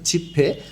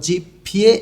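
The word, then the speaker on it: 지폐: বাম পাশে লেখা আছে জিপফে, অর্থাৎ কাগজের নোট। জিপফিয়ে এখানে উচ্চারণটা হবে না, উচ্চারণকে সহজ এবং দ্রুত করার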